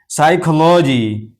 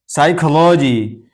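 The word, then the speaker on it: psychology: साइकोलॉजी। साइकोलॉजी तो यहां भी पी के बाद एस है। तो ये पी भी साइलेंट है।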